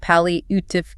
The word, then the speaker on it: palliative: And finally, for patients nearing the end of their journey or dealing with a severe chronic illness, we consult palliative care, pronounced palliative care.